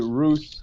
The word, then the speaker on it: Rus: I've always pronounced it Rus, and that goes up and down.